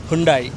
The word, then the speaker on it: Hyundai: never seen this setup yes and we get pronunciations sorted say it once again Hundai when introduced in 200 3 This SUV was